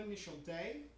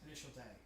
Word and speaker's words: Initial D: Initial Day is the correct way What? to pronounce the name. Yes. I know you think it's Initial D, but it's Most Initial people Day. know it as Initial D.